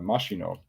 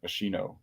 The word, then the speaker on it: Mashino: And then, I mean, there's a 5 times capped Japanese international, Shuto Mashino. I really wish you could pronounce that Machino, because that would be so cool. Domo arigato, Mr. Machino.